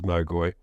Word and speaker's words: Magi: uh and of course the Magi whom we can pronounce in the Greek as magy uh were themselves uh